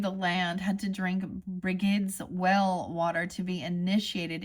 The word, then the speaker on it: Brigid: Brigid. Sorry. I always want to say like Bridget, but Brigid. Okay.